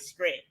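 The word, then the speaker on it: Skrit: I got it right okay s-k-r-i-t all right script all right so I'll try to make sure I have the pronunciation right so um stretch is a Canadian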